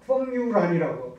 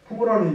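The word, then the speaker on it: 馮友蘭: 그리고 이제 중국의 그 펑유란이라고 풍우란인데요, 우리 발음으로는 풍우란은 이제 히스토리 오브 차이니즈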